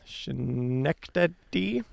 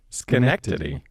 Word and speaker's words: Schenectady: there to working for GE's laboratory in an unpronounceable town name in New York, Schenectady.